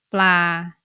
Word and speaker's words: ปลา: ปลา So you need to pronounce it in the middle tone because of ปอปลา tone rule.